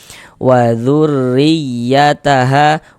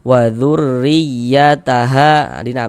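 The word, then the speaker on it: وَذُرِّيَّتَهَا: Ditekan wazurriyataha wazurriyataha dikasih nabar.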